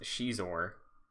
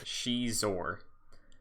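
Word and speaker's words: Xizor: ever okay all right uh i wanted to call him sizzler but it is pronounced she's or prince she's aware a how's how does he spell that like uh x-i-z-o-r pronounced she's or all right a fallen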